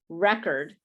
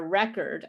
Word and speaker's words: record: uh with the it's pronounced with uh the stress in the first position the first syllable but if it's to